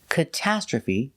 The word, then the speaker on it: catastrophe: Pronunciation, first syllable, k. Using the short sound like up and cut. K, kata. We use the short a like apple and black cat. Catastrophe. The TR makes the ch sound like chicken.